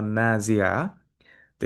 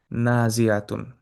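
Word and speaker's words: نازعات: এই জন্য দেখবেন এই যে মাদগুলা রয়েছে, এই যে আলিফ, আলিফ এইগুলা যদি আমরা না উচ্চারণ করি, না টানি, তাহলে অর্থটা কিন্তু চেঞ্জ হয়ে যাবে।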